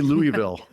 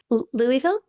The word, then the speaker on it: Louisville: Oh, I think they add an extra syllable. How do you say Louisville? Louisville.